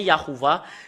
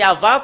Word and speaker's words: Yahvah: où l'image ça devient yahoua c'est là que ça c'est là que ça vient le nom yahoua les humains l'ont changé selon leur volonté normalement c'est Ava qu'on le prononce bah ça devient yahouva bah il il rajoute